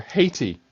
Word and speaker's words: Haiti: Next on the list, Haiti, or Haiti, as many people would pronounce it.